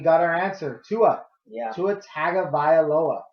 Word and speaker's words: Tagovailoa: Tagovailoa, right?